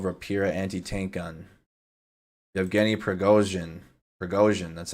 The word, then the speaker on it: Prigozhin: Prigozhin, that's how you say his name.